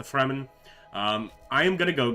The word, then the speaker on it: Fremen: and also the fremen here i guess it could also be the free man but i believe it's actually pronounced the fremen um i am gonna